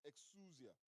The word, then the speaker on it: exousia: And the word translated as authority comes from a Greek word pronounced exousia. Turn to your neighbor and say exousia.